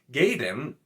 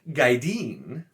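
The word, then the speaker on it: Gaidin: For the term for warders, which I always said Gaiden, because once again I don't pronounce I sound constantly like Robert Jordan apparently wanted Michael Kramer to, but is Gaideen.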